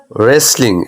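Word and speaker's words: wrestling: অর্থ আছে যে জাহারা কাহারা যে কেউ ইত্যাদি রেসলিং এই যে দেখো আর ডব্লিউ আর আছে এখানে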